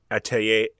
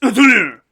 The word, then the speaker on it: Atelier: So what you do in Atelier, the Painter's Studio, is you roll some dice. And let me correct your pronunciation, Walker. It's Atelier.